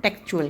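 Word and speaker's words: textual: कोई भी लिखित चीज़ जो टेक्स्ट में होती है उसे हम टेक्सचुअल कहते हैं। ओके, तो थर्ड हमारा प्रोनाउंसिएशन जो है टी का, दैट इज चर।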